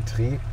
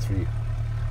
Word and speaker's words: three: When I say tree, that's how you pronounce three in aviation English. So you always say tree and not three.